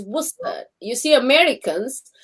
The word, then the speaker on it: Worcester: a second model what's the sauce though it's worcester you see americans how do you say it yeah it's not like that it's pronounced worcester sauce okay just so you know